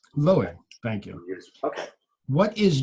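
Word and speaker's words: Loew: Bazalel and the Golem, and I hope I pronounced that correctly. Loe. Loe, thank you.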